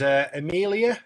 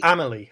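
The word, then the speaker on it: Amélie: Adolphus and Amelia. Is that how? Yep. Pronounce that right? Amelie. I apologise. It's Amelie. a French name.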